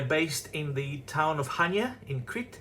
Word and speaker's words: Chania: They are based in the town of Chania in Crete, Chania the correct pronunciation.